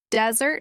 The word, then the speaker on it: desert: Desert has stress on the first syllable.